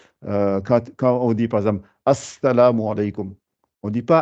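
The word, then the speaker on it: السلام: Quand vous mettez l'article, vous ne dites pas le Al, vous doublez juste la lettre, comme quand on dit Assalamu alaykum, je double le sin, je mets l'article devant.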